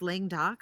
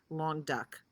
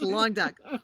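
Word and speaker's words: Languedoc: for the wine for the price and it's pronounced lang doc i pronounce it wrong it's pronounced long duck okay have fun with that keith and everybody else long duck it's a new appellation from 2007 and um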